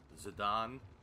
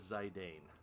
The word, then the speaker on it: Zidane: and that is our main character the actual pronunciation of his name is zidane but i refuse to call